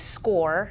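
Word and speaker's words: Scoir: would go into the website score and that's spelled s-c-o-i-r and that's the website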